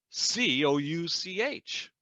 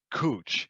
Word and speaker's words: couch: you'll get this right how do you pronounce the word c-o-u-c-h is it a couch b cooch or forget about it it's all sofas yes the right answer is b cooch and we're going to